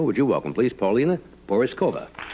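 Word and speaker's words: Porizkova: Porzekova.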